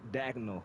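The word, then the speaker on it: Daigneault: appreciate it one more note um it's Mark dagel you didn't uh get the pronunciation on that Martin dagel That's the uh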